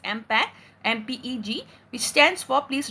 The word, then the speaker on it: MPEG: here is that is mpg mm-pac which we pronounce as impact mpeg which stands for